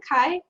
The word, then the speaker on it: Chi: Is that how you pronounce it? Kai?